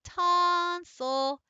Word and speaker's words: tonsil: In tonsil, it's the I, tonsil. And if you notice, it's kind of an I-ul. It's like a combo.